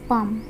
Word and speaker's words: palm: That stood মানে যেটা দাঁড়িয়েছিল, আপন হিজ পাম এখানে কিন্তু এল আছে, এলটা কিন্তু উচ্চারণ হবে না, PALM পালম হবে না কিন্তু, ঠিক আছে, এটা পাম হবে, পাম মানে হচ্ছে হাতের তালু বোঝায়, ঠিক আছে।